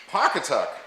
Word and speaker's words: Pawcatuck: Pawcatuck.